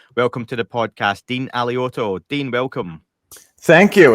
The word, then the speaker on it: Alioto: If you're in Italy, it's Alioto. Yeah. Everyone else, it's pronounced the way that you said it.